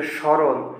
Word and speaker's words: স্মরণ: দন্তুস্বয়ের উচ্চারণ তালবস্য হয়ে যায়। এই যে স্মরণ, স্মরণ হয় না, স্মরণ হয়, মানে তালবস্যর মতো উচ্চারণ হবে এই স্মরণের প্রথম দন্তুস্ব, তাই বোঝানো হয়েছে।